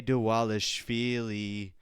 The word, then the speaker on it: Dvalishvili: Morab Devalishi. Or should I say Dewalishi? Because they don't pronounce their V's. They pronounce their V's as W's.